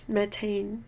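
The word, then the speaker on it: methane: 메탄 아니고 메테인. 나트륨은 라틴어로 맞아요, 맞아. 어쨌든 영어 발음은 이건데 이제 바뀌게 되는 거죠.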